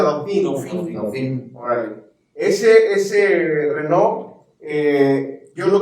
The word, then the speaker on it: Dauphine: Así se pronuncia Dauphine.